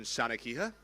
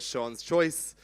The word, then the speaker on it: Seanchoiche: running order and you didn't really know how to pronounce it. You might have pronounced it. You knew. You might have thought it was called Sha's Choice. You might have thought it was called Sheniqua.